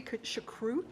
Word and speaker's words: choucroute: It's ruby choucroute. Choucroute? Okay. But I don't have that. The little gurgle? Yeah. We got to work on that.